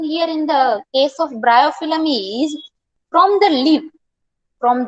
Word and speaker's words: Bryophyllum: Plants such as Bryophyllum. Pronunciation is bryophyllum.